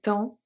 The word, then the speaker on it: temps: Il est temps. We don't pronounce the P and we don't pronounce the S.